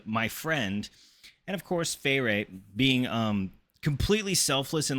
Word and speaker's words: Feyre: This is really confusing because I pronounce Feyre the same as I pronounce fairies, like the Feyre.